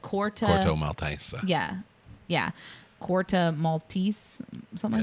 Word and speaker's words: Corto Maltese: place is called, like Corto Maltese. Yeah, Corto Maltese, something like that. It's spelled like Maltese Falcon, but it's pronounced 4 different ways in the movie.